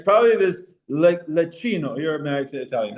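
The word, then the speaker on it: Leccino: It's probably this lecino.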